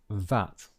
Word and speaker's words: VAT: as an acronym so when we use it as an acronym we pronounce it vat so it's the same